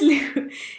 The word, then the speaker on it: Lew: got them and this Lou it's spelt L e w you know Louis loo roll and it's 8 pounds